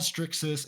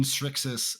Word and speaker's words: Srixis: get to be like it's pronounced like strix but without the t so it's it's actually